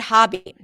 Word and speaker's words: hobby: What about the word hobby? Hobby is the ah as in father. Not an O sound.